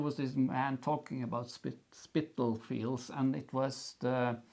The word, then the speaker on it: Spitalfields: Yeah, let's see if I can pronounce this correctly. It's Spitalfields. Hospital, right? Yeah, actually, I was thinking Spitalfields, and then I was thinking Spittle.